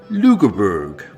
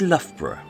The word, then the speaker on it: Loughborough: other such places that they deliberately mispronounce just to piss us off such as edinburgh worchestershire and of course lugerberg which for those of us who actually speak english is loughborough and yet although west